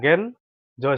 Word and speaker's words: গেঞ্জি: গয়কার গে, নিয়োজ সংযুক্ত ঋষিকার, গয়কার গে নিয়োজ সংযুক্ত রসিকার, গেঞ্জি। এখানে নিয় থাকার জন্য ন হালকা উচ্চারণ হবে, গে ন, গেন জয় শিকারের জি, গেন জি।